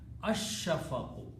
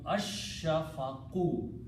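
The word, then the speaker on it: الشَّفَقُ: here, so it becomes al shafaqu, but lam, sheen is a shamsi letter, so it will be ash-shafaqu. Lam will not be pronounced, sheen will be pronounced twice, so it will become ash-shafaqu.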